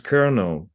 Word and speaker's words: colonel: mais ça se prononce kernel il y a pas il y a pas de l au milieu il y a un r un son r un son r au milieu et mais il y